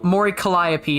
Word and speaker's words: Mori Calliope: at another V tuber so this is um Mori Calliope is how you pronounce it is the character that uh this